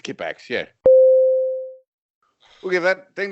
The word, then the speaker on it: Kippax: Kipax. Say it again, Phil. Kipax. I think we'll give that. I think it's Kipax.